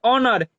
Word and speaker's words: honour: HONOUR, इसे हम लोग क्या पढ़ते हैं? ऑनर, यहाँ एच की ध्वनि नहीं निकालते हैं।